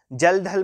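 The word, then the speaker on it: Kjeldahl: पे मूव करते हैं जल धल मेथड ठीक है के साइलेंट है जल धल मेथड ऐसा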